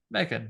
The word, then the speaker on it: M3GAN: important that you have to pronounce it like M3GAN for my name games to work M3GAN.